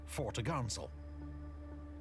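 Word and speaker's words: topgallant: sale pronounced topsail and four top gallant sale pronounced fortagansel on the main mast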